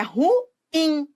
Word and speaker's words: ruim: a uma identificação equivocada as pessoas que falam ruim elas falam assim porque elas acham que a sílaba tônica no ru né mas é ruim ruim não ruim nada de